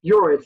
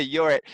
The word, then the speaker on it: Jorrit: gonna meet your so your it is am i pronouncing your name correctly um yes it's your it's like that curious hey you're it okay and I actually